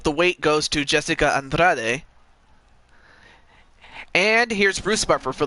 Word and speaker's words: Andrade: It's spelled Andrade, but it's Andrade.